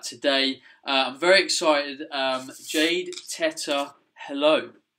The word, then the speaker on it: Teta: No one hold this against me, but my name is Italian, Teta. So the pronunciation is Teta. Yeah. But in Spanish, Teta is slang for breast, and so I think they changed the name when I came to the United States to Teta.